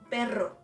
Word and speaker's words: perro: Because if you pronounce this R soft, as if it was just one, the meaning is different.